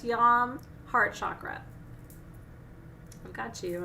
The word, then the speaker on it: yam: one that she said sounds like yeah but is it yam it's yom heart chakra i've got